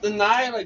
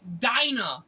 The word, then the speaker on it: Dinah: It's not Delilah. God damn. That's how it's spelled. It's Dinah.